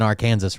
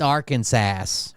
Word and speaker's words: Arkansas: This is probably that lady that told me I was I was pronouncing R. Kansas wrong. It's Arkansas or whatever she said.